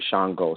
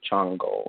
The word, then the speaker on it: Shango: You can find that even the way that people pronounce certain Orisha names can be different from one place to another. Some people may say Yamoja, some say Yamanya. Some may say Shango, some may say Chango. It depends on just how they pronounce those things.